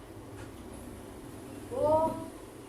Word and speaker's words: bonjour: Ya, biasanya orang Prancis itu selalu ketika menggunakan R, maka R yang digunakan bukan seperti yang ada di Indonesia atau R biasa. Tetapi orang Prancis biasanya memakai huruf R itu seperti orang yang lagi serak.